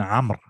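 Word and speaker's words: عمرو: Like Umar and Amr. You spell it all the same. Ain, mim, and ra. Ain, mim, and ra. But Amr, they put a waw after that ra, just to show you that it's Amr and not Umar.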